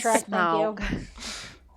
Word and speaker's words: Smaug: If you like Minoko's voice, you'll like Schmaug. Shrek. How do you I like pronounce Shrek. Smaug. Thank you. There's no It is- CH in it. There's no Schmaug.